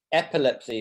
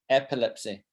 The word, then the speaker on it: epilepsy: you were almost perfect epilepsy is how we say it epilepsy so the emphasis on the first syllable ep epilepsy so if you have